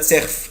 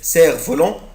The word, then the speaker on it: cerf-volant: ما بقولش يا ولاد سيرف، مش بنطق حرف الاف. cerf-volant هصنع طيارة ورق.